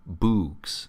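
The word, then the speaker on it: boks: be written these books spelled b o k s are called boooks pronounced like flukes to distinguish them from books like hooks it is an invar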